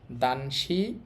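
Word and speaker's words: 男子: দানশি, দানশি অর্থ হচ্ছে ছেলে।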